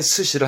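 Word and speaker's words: 寿司: 목숨 수인데 수사로 써서 발음이 이게 스시입니다. 초밥의 스시를 한자 읽었습니다.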